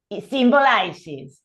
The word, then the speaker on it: symbolizes: Y symbolizes, also, ahí también se pronuncia la ES.